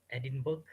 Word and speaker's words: Edinburgh: Edinburgh, Say it again. Edinburgh. Yeah, they don't pronounce like Edinburgh.